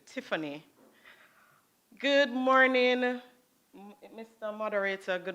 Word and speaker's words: Tiffany: So it's pronounced Tiffany.